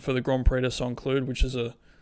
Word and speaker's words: Saint-Cloud: Cloud next weekend for the Grand Prix de Saint-Cloud, which is it's Group 1. I don't know why I pronounced St. Cloud 2 different ways just then. Yeah, I'll do it like a French person, Saint-Cloud.